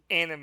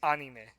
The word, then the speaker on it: anime: I mean, if you want to get technical, it's not anime. It's anime. Okay.